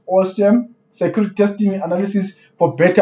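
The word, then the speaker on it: OSSTMM: Open source security testing methodology manual, pronounced OSM, security testing analysis for better operational security, right?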